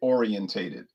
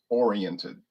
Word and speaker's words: oriented: You'll notice some people will say the word orientated. They'll say orientated. But it's really supposed to be pronounced oriented. Charred oak oriented, not orientated.